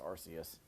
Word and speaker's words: Arceus: I believe it's pronounced Arus on the Nintendo Switch.